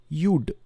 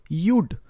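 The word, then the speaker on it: you'd: ইউ হ্যাড ভিজিটেডকে সংক্ষেপণ করে আমরা লিখি কি ইউড ভিজিটেড। ইউড লাস্টে কিন্তু ডিটার উচ্চারণ আসবে, ইউ ভিজিটেড না, সেটা কিন্তু টোটালি ডিফারেন্ট টেন্স। ইউড ভিজিটেড।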